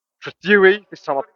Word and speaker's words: Trethewey: Trethewey. This time I pronounced it right.